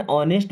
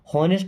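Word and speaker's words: honest: इज वह है एन ऑनेस्ट means एक ईमानदार इसको नेस्ट नहीं ऑनेस्ट पढ़ते एच साइलेंट होता है ना बॉय मींस लड़का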